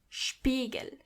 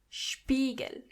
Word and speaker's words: Spiegel: When you see an S before a P, you have to automatically pronounce the S as sh.